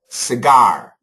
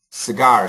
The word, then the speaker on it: cigar: This we say cigarette, but this word is cigar. Cigar. So cigarette, cigar.